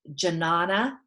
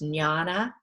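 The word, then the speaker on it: jñāna: this means meditation and also janana now i'm saying that phonetically but it's nyana and that means wisdom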